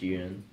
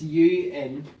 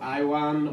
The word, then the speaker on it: Ewan: From this podcast is that your Um, name is pronounced Ewan. Yes, it's UN because like pretty much just UN like But pretty it's much every time we've been on something I've been called Iwan or Iwan or Oh, yeah let's not Iwan.